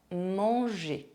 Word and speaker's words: manger: The final R of the infinitive of verbs ending in ER is not pronounced. Manger, aller, penser.